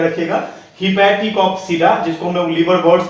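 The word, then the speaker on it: Hepaticopsida: हिपैटिकॉप्सिडा, ये प्रोनाउंसिएशन थोड़ा सा आप ध्यान में रखिएगा, हिपैटिकॉप्सिडा, जिसको हम लोग लिवरवर्ट्स भी कहते हैं, और इसका एग्जांपल है रिक्सिया एंड मर्चेंसिया।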